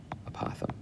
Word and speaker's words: apothem: Apothem. And I've probably been pronouncing that wrong for 8 years, but I looked it up recently. It's apothem.